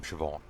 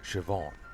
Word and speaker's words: Siobhan: It like rarely have I seen a pronunciation guide that it's just like Irish name Siobhan, Shiv, on, Siobhan. Think prison Shiv and on from awning, Siobhan.